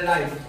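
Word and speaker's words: write: এখানে রাইট রাইট অর্থ হলো লেখা। রং আর ডব আর ও এন ডি রং অর্থ ভুল। যেটা আর এর আগে ডব আছে। এখানে ডবর উচ্চারণটা করতে হবে না।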